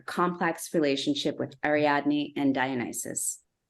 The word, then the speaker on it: Dionysus: relationship with ariadne and Dionysus or dionesus as I learned is his name pronounced in Greek and then finally but